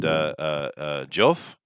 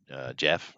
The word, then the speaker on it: Geoff: Um, his right hand man is a guy named Joff, or Jeff, Joff, the old pronunciation.